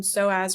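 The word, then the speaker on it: psoas: soaz so um and to be clear soas is spelled PS O A if you are wanting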